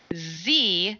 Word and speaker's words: ze: or she her with Z which is spelled Ze and here which is